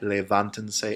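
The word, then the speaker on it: levántense: attaching that say and we're counting three syllables back to count to add the accent so if you've ever wondered why levanten say is the way that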